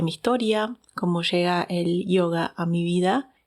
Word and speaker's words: yoga: A mí me gusta decirle yoga, como se dice desde la raíz de la fuente de donde nace, ya que la palabra